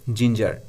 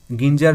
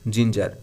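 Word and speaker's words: ginger: ফুলকফি এর ইংরেজি হবে কলিফ্লাওয়ার কাউলিফ্লাওয়ার হবে না উচ্চারণটা ঠিকমত করবে কলিফ্লাওয়ার ডিটা আছে আদা এটা হবে জিঞ্জার গিঞ্জার নয় কিন্তু জিঞ্জার ইয়েটা আছে মুদি এটা হবে গ্রোসার গ্রোকার নয়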